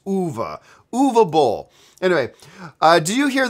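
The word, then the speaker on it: Uwe: it is actually pronounced Eva as if it was spelt u-v-a it's it is movable I actually sat down and chatted with the man once and he specified it's OVA movable anyway do you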